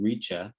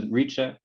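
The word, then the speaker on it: rica: up here it's called richa r-i-c-a the c in indonesian is always pronounced like ch um so if you're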